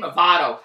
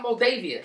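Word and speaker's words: Movado: I couldn't even pronounce the name Mado I was calling mavia I couldn't even pronounce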